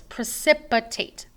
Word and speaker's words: precipitate: So this is pronounced just like precipitation, like rain or snow. It just doesn't have the last part, so it's precipitate.